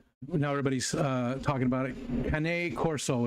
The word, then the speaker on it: Cane Corso: Cane Corso is how it's pronounced. Cane Corso.